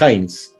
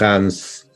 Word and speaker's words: Heinz: Bueno, en verdad es Heinz. Heinz. O sea, Heinz, sí. Nombre alemán, bueno, que soy descendiente. Heinz, sí. Estoy, bueno, ya de todo el tiempo que vengo viviendo en Chile, ya estoy acostumbrado a que me digan Heinz, Hans. No tengo problema con eso, pero Heinz se pronuncia.